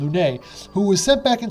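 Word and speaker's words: Lunais: So you play as a time messenger named Lunace. I think the S is silent. Lune, who was sent back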